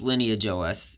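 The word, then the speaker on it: LineageOS: of yeah it's pronounced lineage OS I know the word you spelling kind of weird way but yeah it's pronounced lineage like the lineage of UNIX based operating systems which I think might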